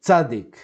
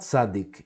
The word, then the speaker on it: Tzadi: The letter Tzadik. Tzadik. Now, if you've been to Israel, you may have noticed that in Israel this letter is called Tzadik. Well, it's actually, its name, it's not Tzadik, it's Tzadi.